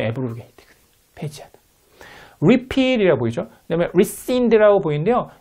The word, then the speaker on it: rescind: rescind라고 발음하면 됩니다.